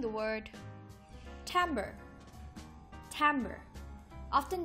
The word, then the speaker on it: timbre: of word ideas we'll be pronouncing the word Tambor Tambor often mispronounced as timbre Tambor means the sound or tonal quality of